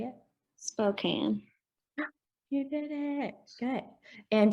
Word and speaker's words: Spokane: Okay, so we're going to say spoke. Spoke. And can. Can. So now when we put this together, we're going to kind of blend it, and we're going to say Spokane.